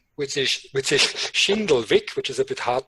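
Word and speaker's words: Schindlwick: in my last name which is which is shindle Vic which is a bit hard to pronounce but I will spell it for you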